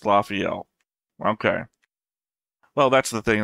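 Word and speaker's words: Lafiel: be able to read I again limra is pronounced lafel okay well that's the thing that I got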